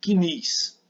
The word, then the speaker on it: CNIS: informações sociais o CNIS esse cadastro nós se pronunciamos assim CNIS é assim que nós falamos lá na Previdência diz aqui que eles